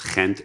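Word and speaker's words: Gent: It's pronounced in Dutch as Kent University.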